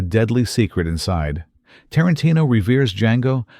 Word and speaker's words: Django: What made Django so radical was its refusal to play safe. The D is silent, but its impact on cinema is deafening.